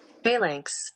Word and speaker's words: phalanx: Phalanx.